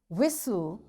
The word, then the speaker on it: whistle: castle or castle orphan whistle soften hasten bustle and gourmet there are different words but in all these words t is silent so we'll practice this